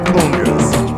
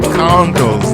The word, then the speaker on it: congas: I love how on the song he says congas. It's not congos, ladies and gentlemen. It's not. All my life I've been listening to these songs and they've been saying congas. I don't know if that's an urban pronunciation. That's how I've been saying it.